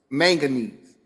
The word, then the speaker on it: manganese: A word is manganese.